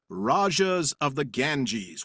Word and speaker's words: Rajas of the Ganges: And that would be Rajas of the Ganges, which I just now pronounced right, maybe for the first time ever.